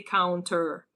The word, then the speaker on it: counter: in US, they often don't pronounce the T. So for example, they say 20 instead of 20, right? But it's not a mistake to pronounce the T. It's fine. You can say 20 and you can say counter.